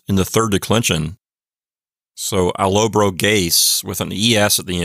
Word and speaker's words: Allobroges: So Allobroges with an ES at the end. And I'm pretty sure that the accent is on the antepenult. So Allobroges is how I'm pronouncing it.